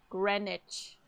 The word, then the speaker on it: Greenwich: I think they pronounce it pronounce it. Greenwich. What the What the is the W doing in there?